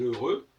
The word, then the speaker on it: heureux: Je vais dire je suis heureux, j'écris R-E-U-X, on n'entend pas le X.